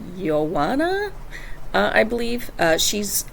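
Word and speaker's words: Joana: mission uh and then there's we would say Joanna but it's pronounced yoana uh I believe uh she's of Lithuanian descent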